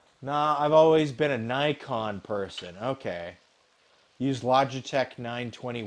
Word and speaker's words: Nikon: It's Nikon. Like it's like Nike. Do you call it Nikke? Is that a Nike? I say it like Nintendo. Nickon.